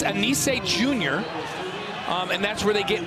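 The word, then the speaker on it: Anicet: Anise, that's his name. Yes, Anise. No, the T is silent. There's a T in it. Yes, T is silent. And we said, can we call him Anise?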